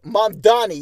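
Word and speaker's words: Mamdani: But Zor Mandami, am I saying it right? Mandani, yes, runs a grassroots campaign.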